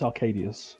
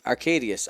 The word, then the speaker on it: Arkadiusz: don't butcher it too much i believe it's arcadius arcadius oh that makes sense okay i was making